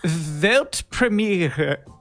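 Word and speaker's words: Weltpremiere: World premiere in German it's actually velt premiere and thank you so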